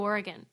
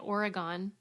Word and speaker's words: Oregon: episode it moved to Oregon which by the way folks I now pronounce correctly on a previous episode I kept calling it Oregon and people like Suzie Oregon what is wrong with you I